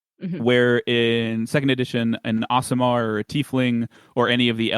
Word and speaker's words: Aasimar: the Aasimar feats, whereas a dwarf Aasimar can take from the dwarf and maybe it's Aasimar. I'm saying it wrong. I've been saying it wrong this whole time. I think I've always said it ASMR, Yeah, I do think it which is just